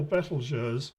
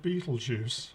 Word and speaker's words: Betelgeuse: the seven brightest stars what i call betelgeuse i think a lot of people call it beetlejuice and i'm you know people tell me off actually because i don't think it should be pronounced beetlejuice that doesn't sound right at all but anyway whatever you